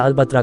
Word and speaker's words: Petra: Jordan के अमान प्रांत में स्थित प्राचीन और पुरातात्विक शहर पेट्रा, जिसे अरबी उच्चारण में पेत्रा या अलबत्रा कहा जाता है।